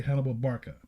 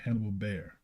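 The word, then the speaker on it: Hannibal Barca: carthaginian General Hannibal Barka it should be Hannibal Barka but they got Hannibal bear okay moreover it may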